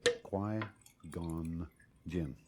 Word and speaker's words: Qui-Gon Jinn: Qui, as in quiet. Qui-Gon Jinn.